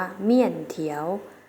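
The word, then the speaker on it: 面条: ใน ภาษา จีน แล้ว จะ เอา เสียง ว่า เมี่ยน เถียว เมี่ยน เถียว เมี่ยน เถียว นัก เรียน ออก เสียง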